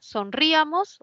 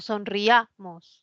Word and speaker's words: sonriamos: Porque hay un diptongo, ¿no? Entonces, ¿quién suena más, la I o la sonríamos o sonriamos? Sonriamos. Es un diptongo, no separo, ¿sí? Hay 3 sílabas. Es grave que termine en S, no se tilda.